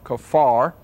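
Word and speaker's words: kaphar: in the English and the Hebrew pronunciation is more or less k a w f a r kafar as I can understand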